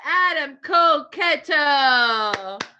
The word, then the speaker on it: Adam Koketo: how to pronounce it he said how to pronounce it adam koketo perfect this is great already